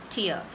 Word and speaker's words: tier: say the word tier it sounds very similar to the teardrops from our is that so Tia so it's somewhere simple the sound is very similar is exactly the same as Tia so you can remember it that way but TR AC 20